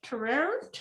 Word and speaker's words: terroir: terroir.